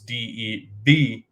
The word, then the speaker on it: DeVonta: It's Debonta. I had to look it up too. He's kind of a different, like a capital V. Yeah. Oh. DeVonta Smith.